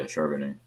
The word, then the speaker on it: Charbonnet: But UCLA running back, how do you pronounce that? Charbonnet? Yeah, Charbonnet.